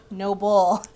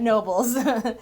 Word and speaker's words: Noble: There's no S. Noble. Singular. Not silent E on the end, please, and thank you. Not noble. Not noble. Not nobles. Noble. Noble. Period.